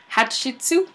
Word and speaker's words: Hatshepsut: Her name is Hatshepsut. All right. Can you pronounce that? Hatshepsut?